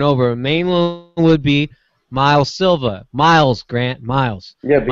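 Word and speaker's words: Miles Silvas: a mainland would be miles Silva miles grant miles yeah we also watch the last thing it's so this not Silva's yeah yeah you just you you the S is silent so mile Silva that mile Silva go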